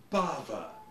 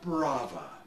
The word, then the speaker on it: Bava: seems that the director's last name is properly pronounced Bava not braa my dumbass producers insist well uh the guy